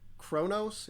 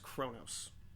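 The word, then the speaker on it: Qo'noS: Alpha 5 hint konos but it's pronounced like Kronos it's spelled qo- n capital S Kronos it's pronounced Kronos Babylon five oo Star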